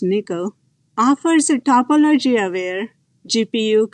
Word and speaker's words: NCCL: top of nvidia's nickel nccl pronounced nickel offers a topology aware